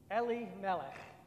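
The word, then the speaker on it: Elimelech: man of the family of Ali Malik is how it's pronounced whose name was Boaz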